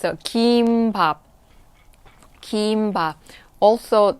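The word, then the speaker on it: 김밥: technically that's not the right pronunciation it's a kim pop kimba also not the strong sound for pop now pop nap kim pop it's kim pop okay the kim pop all right so for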